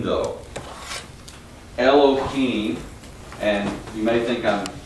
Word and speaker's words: Elohim: that way uh but the H uh in the Hebrew language is always pronounced it's got a hard guttural sound so it's not Elohim